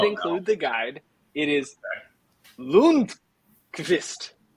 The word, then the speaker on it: Lundqvist: Here's the pronunciation. They did include the guide. It is Lundqvist. Lundqvist.